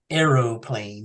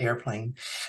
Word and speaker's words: aeroplane: fact, I enjoy that he was told to pronounce it aeroplane and not airplane.